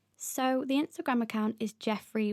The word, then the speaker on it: Geoffrey: So the Instagram account is Jeffrey Walk, and that's spelled Geoffrey, Walk.